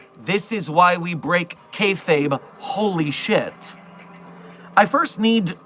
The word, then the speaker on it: kayfabe: of professional wrestling, what kayfabe is. Kayfabe, from the Pig Latin pronunciation of fake, kayfabe is essentially acting.